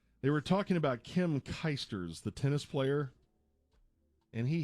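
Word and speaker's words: Clijsters: doing this it's Kim kers Dave Dave sorry I'm sick I don't she's Belgian and it's pronounce kers thought there was another T in there all right I guess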